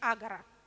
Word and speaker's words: агора: Если можно всех собрать на виртуальной площади, Александр Баунов строго пишет, что надо говорить агора, только агора, исключительно ударение на первый слог.